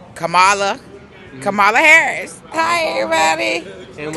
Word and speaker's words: Kamala: Oh gosh, I thought about Trump or Kamala Harris?